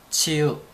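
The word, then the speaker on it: 鸠: 저맨 처음에 치우천왕 할때 치우인 줄 알았는데 치우와 치유의 중간 정도 발음되는 것 같습니다. 치유.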